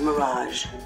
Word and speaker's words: Mirage: Et Mirage, c'est un de ces mots français qui existent en anglais et qui se prononce comme en français. Enfin, comme un anglais qui prononce des mots français.